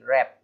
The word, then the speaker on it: wrap: अब ये है WRAP रैप, है ना, रैप लपेटना, तो आर से पहले डब्लू आ रहा है, डब्लू साइलेंट हो गया।